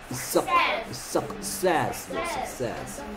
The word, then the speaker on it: success: Success. C가 연달아 두 번 나오면요. 첫 번째는 k, 두 번째는 s.